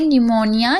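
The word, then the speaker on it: pneumonia: अब यहां पर देखिए निमोनिया। यहां पर आप देख रहे हैं पी साइलेंट है।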